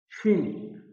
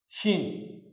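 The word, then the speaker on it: شین: So to pronounce this shin, we use S with H for the sound like sh, shin.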